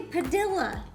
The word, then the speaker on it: Padilla: And You should know where the emphasis goes on the second syllable. They say Padilla. They do say Padilla. There's people. Padilla.